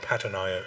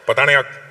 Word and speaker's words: Patanayak: Say it properly. Not Patanayak. Patanayak.